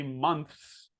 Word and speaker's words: months: So it's not months. It's not months like an O. It's months. Months.